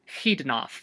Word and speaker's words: Xidnaf: Anyway, in Lojban it is pronounced Xidnaf, with a velar fricative at the beginning.